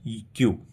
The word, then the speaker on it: queue: Pronunciation के लिए हम देखेंगे, यहाँ स्पेलिंग होता है QUEUE, बट स्पेलिंग में प्रोनाउंसिएशन सिर्फ होता है क्यू, कुछ अलग से एड ऑन नहीं करते हैं।